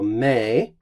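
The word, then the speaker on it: mē: ablative of comparison so may this is a long syllable here may is actually long there he was earlier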